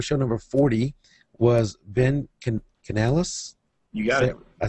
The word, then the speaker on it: Canales: So tonight's guest for show number 40 was Ben Canales.